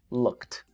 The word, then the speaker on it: looked: los labios Look Look What's the last Sound no vibra por lo tanto number one two or three number two por lo tanto el pasado es looked looked looked ya casi